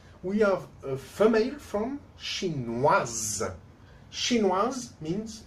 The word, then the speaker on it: chinoise: When it's for women, chinoise, we pronounce the final S when we don't pronounce the final I.